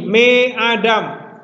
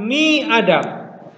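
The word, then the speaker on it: מֵאָדָם: menerima dages forte ya contoh di sini me Adam ya me Adam ee bukan mi Adam tidak bisa dua kalikan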